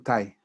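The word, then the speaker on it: 大: Todos son Tai o Da, que la palabra Da bueno, se escribe da, pues se pronuncia ta.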